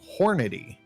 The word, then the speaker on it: Hornady: book on reloading uh from hornady see look i said it right that time yeah yes you did